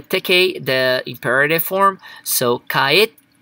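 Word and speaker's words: 帰って: So, kaette. So, the ru here, we're going to do it like a small te. So, kaette. So, you have a pause when you're pronouncing it.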